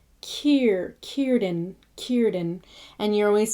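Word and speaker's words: Círdan: You want that ear sound rather than er. So there's no fur. It's not curden. It's Kierden.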